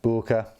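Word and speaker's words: Böker: lovely n690 blade steel it's a Booker because obviously that's how you pronounce a little Oh with the umlaut anyway let's unbox this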